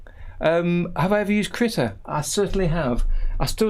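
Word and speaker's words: Krita: i can't deal with say critter as in like a a little animal a little critter um swedish yes i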